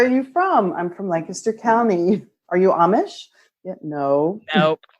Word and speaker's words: Lancaster: hard not to not to go no it's Lancaster you know I had somebody asked me once